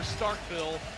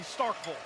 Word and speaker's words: Starkville: how you want it where I come from they pronounce the second syllable V not Knoxville or Starkville Knoxville and Starkville and one possession games